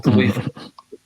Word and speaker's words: Khalifa: Khalifa, the right pronunciation.